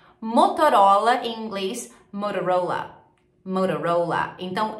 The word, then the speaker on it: Motorola: Motorola em inglês então Lembra que eu falei que muitas vezes quando a gente tem a letra t no meio da palavra ela vira um R Então em vez de você falar montão rola você fala OK marcas de roupa agora